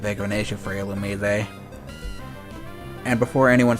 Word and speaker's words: Illumise: I didn't think evasion was that big of an issue for Illumise. And before anyone says anything, yes, it is officially pronounced Illumise.